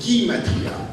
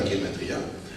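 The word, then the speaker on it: גימטריה: Gimel, à ce moment-là on prononce Gimatria, pas Gematria, comme on peut l'écrire avec un Alef, ou on peut l'écrire avec un E à la fin.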